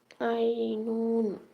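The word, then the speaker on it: عين: হা আইন গলা চিপে আইনুন আইন গলা চিপে উচ্চারিত হবে আইনুন আর হা গলা স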